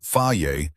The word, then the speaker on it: Fage: Fage, pronounced Faiye for those of us not fluent in Greek, has been doing this since 1926.